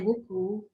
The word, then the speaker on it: WoolCool: It's two wool and it's cool, but it's with the two O's in English.